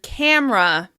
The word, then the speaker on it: camera: Let's look at the word camera. Camera. Although some people may pronounce this word camera, most people say camera in order to say it a little more efficiently.